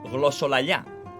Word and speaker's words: glossolalia: This is pronounced as glossolalia, which comes from the Greek word glossa, tongue, and laia, speak.